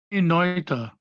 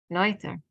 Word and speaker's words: Noether: And Amelie Noether, is that the way it's pronounced from? Noether. Noether, yes.